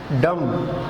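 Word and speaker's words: dumb: उसके बाद है डम, यहाँ पे बी फिर साइलेंट है, और ये डम जो है ये बहरे को कहते हैं.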